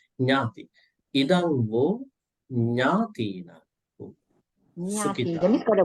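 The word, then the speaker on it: ñāti: So if you say like that, Natina, Natayo, Natipeta, that's a mispronunciation. So you have to say Nyati.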